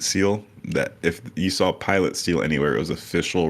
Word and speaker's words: Pilate: I pronounce it Pilate. That's how they pronounce it in Catholic churches.